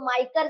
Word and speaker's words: MICR: इसी को अगर थोड़ा सा प्रोनाउंस करोगे इसका MICR को, तो माइकर जैसे बोल सकते हैं ना इसको, माइकर करके, तो इसको माइकर भी बोलते हैं।